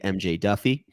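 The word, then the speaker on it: MJ Daffue: is my boy mjd AKA the Jaguar AKA MJ Duffy which I think is how you pronounce it but that's an issue that I'm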